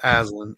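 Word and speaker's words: Alyn: what's new yeah well my granddaughter's name is alen by the way that's beautiful I had to look it up because the spelling is like weird it's like hard to pronounce but it's alen it's a l y n something I had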